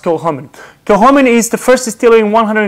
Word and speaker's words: Kilchoman: to, most people say Kilchoman, but it's actually, the C is actually silent, so it's pronounced Kilchoman.